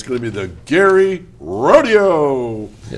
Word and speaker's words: Gerry: No matter what you think, this is not pronounced the way you think it should be pronounced. It's not Jerry. Do not go to this place and say, "Is this Jerry New York?" because you will be laughed. This is Gary, and it's going to be the Gary Rodeo.